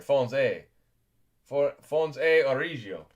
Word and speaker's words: Fons et Origo: that, an Elway, baby, Fons et Origo, yeah, you got it, that's a silent T there, Fons e Origio, does that sound a little more Italian?